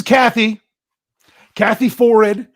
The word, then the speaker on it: Forrid: Well, this is Kathy Forrid. I can get her name right because I remember she said it rhymes with horrid.